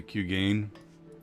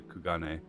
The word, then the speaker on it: Kugane: departure you should too always pronounce the q gain um i assume it's supposed to be japanese which would be something a lot closer to kugane i think but i